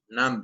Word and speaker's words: numb: to be nom-nom-nom it numb but no my god don't pronounce the B the B numbers no